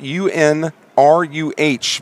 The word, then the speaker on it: Unruh: quarterback out of Caledonia High School Unruh spelled U n ru H but pronounced Unruh first and ten for the Indians